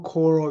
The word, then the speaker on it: corps: core, CORPS는 집단이란 뜻인데 군단, 집단, 무슨 경호단 뭐 이런 단이라는 뜻으로 해석하는데 여기 S는 모음이에요. 발음을 하지 않아요. New 복수체로서. core of evangelists. 이거를 corpse라고 그러면은 시체가 되고요. corpse를 corpse라고 읽어요.